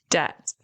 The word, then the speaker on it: debt: You pronounce this word debt.